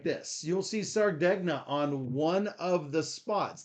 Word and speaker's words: Sardegna: um no drama John says like lasagna s so so sarden so be sure to check out sarda sardegna however it is easiest